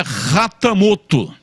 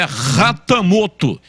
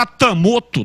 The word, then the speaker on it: Hatamoto: sobrenome do Dudu é rattamoto o h com som de R H como como Honda né como o carro Honda ou Hyundai aquele outro carro aquela outra marca então é ratamoto quem fala atamoto tá falando errado porque